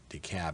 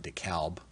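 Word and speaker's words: DeKalb: this case called decab and they pronounce it decab not decal decab GOP versus raffensberger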